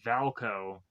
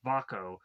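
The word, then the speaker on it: Vaako: I keep want to say his name is Valco. It's Vako.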